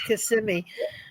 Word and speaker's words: Kissimmee: But I said, when she gets done, I'll let her know it's Kissimmee. Oops. That's all right. I can't freaking understand the words. I can't pronounce half of the places in Florida.